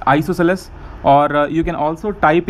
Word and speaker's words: isosceles: Some people pronunciate this as isocels, like different pronunciations they have. Okay, so if you want to go for the exact pronunciation, it's isosceles, or you can also